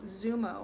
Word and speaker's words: XUMO: It's XUMO, Zumo, or I think is how you pronounce it, but it's XUMO.